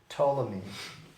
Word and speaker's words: Ptolemy: numerals even though it wouldn't apply to them ptolemy that's an egyptian name his name is spelled p t o l e m y ptolemy and we're not gonna probably be deviating